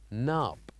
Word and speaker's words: knob: last time, which is knob, a doorknob. So here, as you can see, we wrote K and N. So here we're not necessarily going to pronounce K, but we need to write it here.